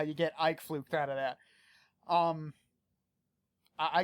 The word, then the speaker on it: Uitvlugt: spelled uit VL u GT and it's apparently pronounced I fluked don't ask me you know I'm just as